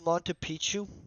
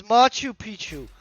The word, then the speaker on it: Machu Picchu: don't worry it'll tell us how do I pronounce Monte Pichu oh hold on they're gonna pronounce it for me my two Machu Picchu Machu Picchu it's Machu Picchu I'm saying it all wrong guys this dude